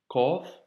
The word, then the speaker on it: ق: Qaf, Kef. Qaf, Kef. Pour l'astuce, tu peux te rappeler l'astuce de Mehdi, le fameux bruit du corbeau. Le corbeau fait ko, ko, ko, tu vois.